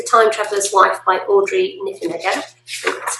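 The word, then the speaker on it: Niffenegger: that is the time traveler's wife by audrey niffen again that's how you say it and um that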